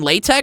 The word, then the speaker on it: LaTeX: what is latek cool latch is a coding language it's spelled like this latex so I'll show you